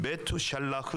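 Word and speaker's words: מתושלח: 케 하는 근거와 있습니다 므두셀라 의 이름 히브리어 발음은 매트 샬 라크 입니다 매튜 늘 옳은 이라는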